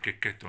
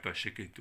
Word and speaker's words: Checchetto: Alors concernant l'accent, je vous assure, hein, ça se prononce bien Checchetto en italien et pas Checchetto ou Dieu sait quoi.